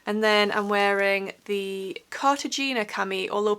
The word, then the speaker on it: Cartagena: And then I'm wearing the Cartagena cami, although people have told me in the comments that it should be pronounced Cartagena, so I'm really sorry if I've been pronouncing that wrong all along.